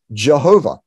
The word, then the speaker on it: Yahweh: the god of israel his name in the old testament is usually pronounced by scholars yahweh we don't exactly know how to pronounce it it's the four letters in hebrew you'd have hey and we think it's probably pronounced yahweh although the traditional pronunciation was lost he that is the